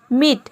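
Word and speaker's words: mete: ई आ रहा है इसमें भी देखिए ई के बाद कॉन्सोनेंट प्लस ई आ रहा है और ये ज्यादातर वर्ड के लास्ट में आता है लास्ट में आप देखेंगे कि ई आएगा उसके बाद कंसोनेंट आएगा फिर लास्ट में ई आएगा मीट मीट मतलब होता है पाट देना सीन सीन मतलब होता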